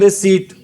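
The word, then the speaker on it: receipt: एम ठीक है और इसको रिसिप्ट नहीं बोलते ध्यान रखना इसको बोलते है रिट हां जी रिदम होता है सरत ये वाला होता है और रिट क्या होता है आपका रसीद होता है क्या होता है रिट आपकी रसीद होता है इसमें पी वर्ड क्या होता है साइलेंट रि सट में पी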